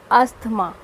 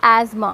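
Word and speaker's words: asthma: सब्जी खाओगे फ्रंट से अस्थमा words not हाउ इट इज wrong in this nation the correct pronunciation आईएस A smart city which रीमेंस silent hair soft अस्थमा इस आसमां मा में रुके प्लीज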